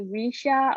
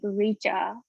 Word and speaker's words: Richa: chubby and even like my name a lot of people like mispronounce but like in american way people call me risha or richa but like actual indian name like if you want to pronounce it it's like richa thank you and i